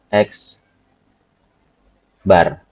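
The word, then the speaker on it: x̄: Mean itu dalam beberapa buku dilambangkan dengan huruf X ada tanda di atasnya atau dibaca dengan nama X bar.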